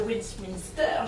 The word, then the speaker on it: Westminster: Alors, aujourd'hui, on va parler afternoon tea avec le chef pâtissier de l'hôtel So British, le Westminster. J'ai bien prononcé, non pas terrible.